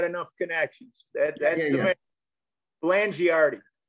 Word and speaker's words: Blangiardi: Blangiardi. Blangiardi. Okay, proper pronunciation.